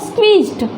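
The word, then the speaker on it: squeezed: तो देखिए यहाँ पर स्क्वीज्ड, स्क्वीज्ड कितनी बार चिन नीचे गई, एक बार। अब देखिए स, और ये क्या है, क्वी। ये क्या है हमारा, क्वी। तो क व ई, तो ये ई साउंड है हमारी।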